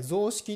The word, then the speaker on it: 雑色: の雑ですね混雑の雑に色って書いて雑の雑な色って書いて雑色って読むんですけどこれは